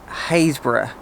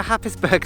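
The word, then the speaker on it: Happisburgh: It's spelt Happisburg, but trust me, it's not pronounced like that. Don't embarrass yourself and come here and say, can you tell me where Happisburg Lighthouse is? Because nobody will help you.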